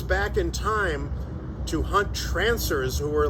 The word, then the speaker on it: Trancers: Trancers. And they even made like 5 sequels, but the original one is the best one. I apologize, I got the name wrong. I thought I said Transursi earlier, I think I said.